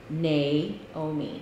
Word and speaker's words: Naomi: um I have always in my mind said my name nay oh me cuz that's you know with a long a MH and then I had a boss that called me n me the whole time that